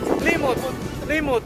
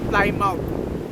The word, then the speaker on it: Plymouth: beach dito sa climout Plimotimut sa American English ang pronunciation niya is fly mouth pero dito ang pag-pronounce dito mut beach dito saut ay ang